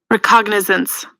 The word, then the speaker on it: recognizance: work on recognizance recognizance everybody wants me to pronounce the G IRA on a reconnaissance I at recognizance I don't know if the G is pronounced I really don't know if the G is pronounced released on your own recognizance let me see recognizance okay the g's pronounced it's settled recognizance Google says it is I actually yeah governor